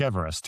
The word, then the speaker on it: Everest: The guy it's named for is called George Everest who actually pronounced his name.